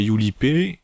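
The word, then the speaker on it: Yurippe: Bref, il va faire la connaissance d'autres lycéens dont en fait la rousse du début nommée Yulipé, ça s'écrit Yuripé, c'est la chef en fait d'un petit groupe de lycéens qui s'oppose à l'ange à Tenschi.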